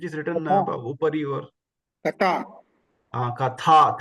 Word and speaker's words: कथा: Katha, tha, Mahaprana, Katha.